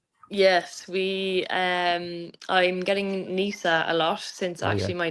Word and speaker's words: Neasa: So, um yeah, it's definitely a complicated one, but most people kind of get it right with their pronunciation with Nisa.